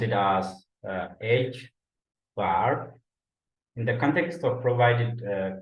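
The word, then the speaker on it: ħ: Basically, this parameter pronounced as h bar.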